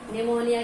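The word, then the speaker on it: pneumonia: निमोनिया की spelling में P silent है, मैंने बताया था लास्ट टाइम।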